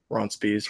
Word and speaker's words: Ronspies: You can find me on Twitter at Likes Pie because it's a play on my last name because Ronspies. It's spelled like Ron's Pies, so I'm like, ha, I'm clever.